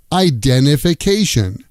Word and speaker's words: identification: Identification becomes idenification.